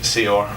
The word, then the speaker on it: Saor: it comes to foreign names yeah this is seor okay seor so I was saying seor but